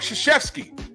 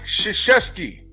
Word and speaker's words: Krzyzewski: His real name is Mike Krzyzewski. It is spelled nothing like how it sounds.